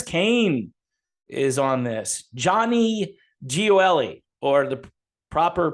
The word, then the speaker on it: Gioeli: Guitarist Tony Hernando, Kent Hilly from Perfect Plan, Ches Kane is on this, Johnny Gioeli, or the proper pronunciation be Johnny Gioeli.